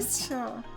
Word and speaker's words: kickshaw: That's just how you pronounce it. The k sound is almost entirely silent.